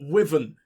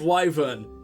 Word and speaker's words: wyvern: annoying to me as people in dragon age saying woven instead of wyvern it's within makes me